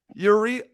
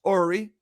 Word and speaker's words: Uri: bye okay that was Yuri Ori and I did a Goldman there I said his name wrong Jackie as uh I say goodbye to him it's actually pronounced Ori so just want to